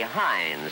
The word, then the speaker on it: Heinz: cherry sauce Worcestershire sauce - but you love Hein solve it we very high you pronounce it say Heinz first and you know it's good because it